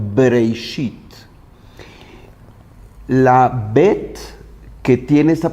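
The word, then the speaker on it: בראשית: Y la pronunciación de Breishit es justo la pronunciación labial, Breishit.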